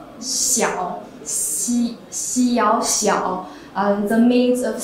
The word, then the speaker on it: Xiao: So actually, Xiao pronounce Xiao, Xiao Xiao, the means of small in Chinese.